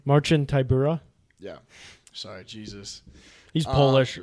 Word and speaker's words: Marcin Tybura: That's how you pronounce his name? Marcin Tybura.